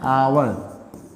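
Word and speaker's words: hour: ठीक, इसके बाद देखिए आवर, इसको क्या पढ़ते हैं, एच से शुरू है, लेकिन यहाँ पे एच क्या है, साइलेंट है, तो इसको पढ़ते हैं आवर।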